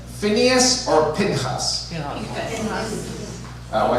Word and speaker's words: Pinchas: And do you guys pronounce the name Phineas or Pinchas? Pinchas. I say half and half. I'll say Phineas Pinchas, okay?